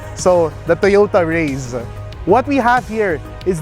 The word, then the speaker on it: Raize: pronounce this they said it's race but instead of an s it's a z so the toyota rays what we have here